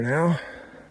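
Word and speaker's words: knowe: K N O W E is a Scottish word that shows up in place names meaning like a small hill.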